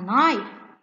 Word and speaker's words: knife: at this it's a knife also we are not pronouncing letter k it's a silent knife